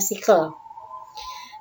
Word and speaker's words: sikel: Ya, bacanya sikel.